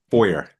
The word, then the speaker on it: Feuer: Foyer. Feuer. Okay, that would be spelled Foyer, but your name is spelled Feuer. Okay. If Uh, it's spelled that way in German.